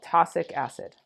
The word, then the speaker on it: tosic acid: It's called tosic acid. Tosic acid. That's how you say it when you read it.